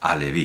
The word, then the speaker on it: Halevi: Pensemos en el cuento sobre la herencia de 3 anillos de Yehudá Halevi. O Alevi, porque no pronuncian la H en hebreo moderno, pero bueno, Yehudá Halevi.